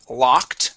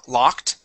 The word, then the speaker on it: locked: go to the word locked give me an a sound there locked locked excellent okay uh let's go